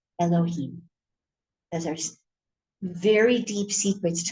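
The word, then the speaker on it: יהוה: It's written yud and he and Vav and hey, but it's pronounced Elohim.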